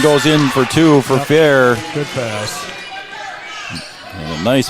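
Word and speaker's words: Fehr: And a rebound underneath by Maddie Fair. It's spelled F-E-H-R, but it's pronounced Fair is what we were told.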